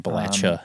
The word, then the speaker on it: Appalachia: the region basically uh Appalachia yeah which is that's how you say it by the way Appalachia any other pronunciation of it is not correct um we we're not